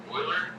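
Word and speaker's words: Euler: Oiler.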